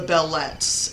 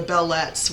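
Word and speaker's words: belles lettres: in the lectures um that are labeled the bellet yes that's how you pronounce that believe it or not the bellet which literally means beautiful letters he's talking about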